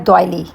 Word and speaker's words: doily: Twist नहीं हुई बल्कि इसकी एक्चुअल प्रोनाउंसिएशन जो है वो है दयली और मैं डलिस इसलिए कह रही हूं कि मोस्टली जो हमारे एशियन लोग हैं वो इसको डलीस कहते हैं।